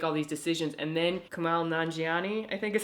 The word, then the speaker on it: Kumail Nanjiani: And then Kumail Nanjiani, I think is how you say his name. Kumail Nanjiani, yeah.